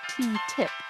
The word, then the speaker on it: TTIP: so you can make your own mind up ttip stands for the transatlantic trade and investment partnership and as you may have guessed it's it's pronounced ttip negotiated in secret it's a deal to cut